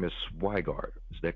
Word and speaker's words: Sweigart: Your last name is Sweigart. Is that correct? Yes, it's German. It's Pennsylvania Dutch. So you pronounce the second letter, not the first. Got you. Wow. Sweigart.